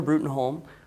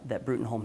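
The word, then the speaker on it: Bruttenholm: So Trevor Brutenholm, or Broom as it's pronounced, is the head of an organization called the Bureau for Paranormal Research and Defense.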